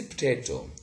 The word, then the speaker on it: potato: So the schwa sound here in this word between p and t has disappeared, between t and m disappeared, and canary, and we have got perhaps, okay?